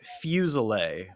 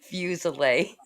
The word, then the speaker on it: Fuselier: Well, it is Fuselier, but Oh. many people pronounce it the way you pronounced it. Fuselier. I like it better. It's that, it's that Southern fake Mhm. French, It's the New Orleans French.